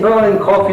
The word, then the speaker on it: Boërl & Kroff: the story but first off I've been saying burning coffee is that the correct pronunciation see first perfect yeah so current row